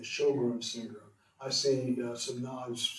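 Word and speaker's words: Sjögren: you look that up it is not spelled s h it's spelled SJ o g r e n shog syr I see some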